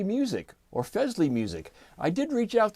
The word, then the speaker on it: Fesley: pronounce their name and I was told that it's kind of like Presley like Elvis Presley but with an f um and I can't